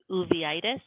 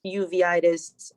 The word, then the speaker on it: uveitis: had nodules and i'm going to butcher the pronunciation of that this ov uveitis u-v-e-i-t-i-s but my blood tests are always normal